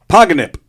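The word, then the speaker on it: pogonip: Give me the definition of the word paganip. Spell it, please. I will. P O G O N I P. Oh, just like it sounds.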